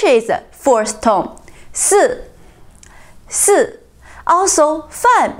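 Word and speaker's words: 饭: Also, fan means food or meal. It's also a fourth tone.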